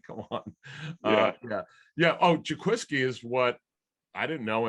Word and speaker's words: Jaquiski: yeah uh you would it looks like jake whiskey but it's uh in fact his